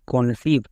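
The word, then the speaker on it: conceive: কন সি ও আর শেষে ই এর উচ্চারণ হয় না তাহলে সি ও এন সি ই আই ভি ই কনসিভ চলো এবার একজন কোশ্চেন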